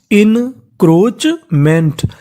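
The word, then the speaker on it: encroachment: CH को पढ़ना है चा और ए का उच्चारण नहीं करना, तो मीनिंग बन गई हमारी इनक्रोचमेंट।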